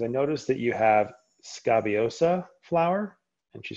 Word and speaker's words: Scabiosa: feel bad for them so yeah you did pronounce it right scabiosa um and you can't locate it um honestly